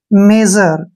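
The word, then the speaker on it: measure: ठीक है ना और एस यू का जो उच्चारण है यहां पर ज करेंगे क्योंकि जब भी एस के बाद यू आता है तो वहां पर एस का उच्चारण ज हो जाता है और आर का उच्चारण हम र के रूप में करते हैं और ई का उच्चारण हमने नहीं करना है जब भी लास्ट में ई आता है तो उसका उच्चारण हम नहीं करते हैं तो इस प्रकार से ये बन गया मेजर क्या बोलते हैं इसको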